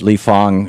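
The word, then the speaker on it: Lee Fang: this report that that lee fong uh spelled like fang but he pronounced the font uh wrote for the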